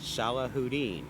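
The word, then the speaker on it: Salahudin: Just underneath that pronounced Salah Houdin. And I practiced it with him earlier. S A L A Hu D I N. Salah Houdini.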